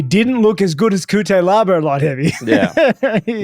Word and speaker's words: Cutelaba: Cutelaba, is that how you pronounce his name? Yeah. Cutelaba.